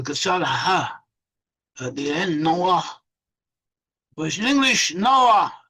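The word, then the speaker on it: נֹחַ: In Hebrew, you pronounce it Noah with a kasal ha at the end, Noah.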